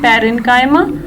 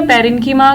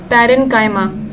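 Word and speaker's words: parenchyma: इसको ऐसे मत पढ़िएगा पेरेन्कीमा, कोलेन्कीमा या स्क्लेरेन्कीमा, इट्स पेरेन्काइमा। ओके, बहुत से बच्चों को मैंने देखा है वो गलत प्रोनाउंस करते हैं इसको, तो दिस इज रॉन्ग।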